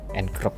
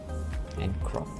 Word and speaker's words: ngrok: Bukan ngrok ya bacanya ya, ngrok.